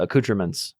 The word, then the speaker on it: accoutrement: But on another level, you'd say those people are the accoutrements of Accoutrement, please. the French pronunciation.